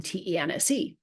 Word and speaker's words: tense: happening in this spelling te NSE right the vowel in the word tense is a short e it's an e so what is the final